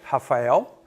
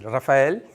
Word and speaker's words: Rafael: with my first name, because this is Rafael with F, is Portuguese, Spanish, is the same writing. But in Brazil, we pronounce like Rafael. And in Spanish, they would say Rafael, so it's a little bit different.